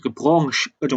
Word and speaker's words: Branche: 참고로 프랑스어라서 발음이 이렇게 돼요. branche 이렇게 되는 거죠.